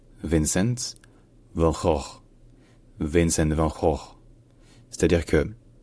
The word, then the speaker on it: Vincent van Gogh: Alors la plupart des gens en France prononcent le nom de cet artiste Vincent van Gogh. Mais dans sa langue maternelle, donc en néerlandais, ce n'est pas du tout ça. En néerlandais on dit Vincent, donc ça c'est le prénom, c'est plutôt facile.